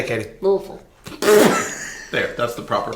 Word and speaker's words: Louisville: Louisville. There, that's the proper pronunciation.